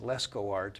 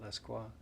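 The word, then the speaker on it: Lescroart: know uh his name obviously French it it looks like Lesco art but he pronounces it pronounces it lequa uh the most helpful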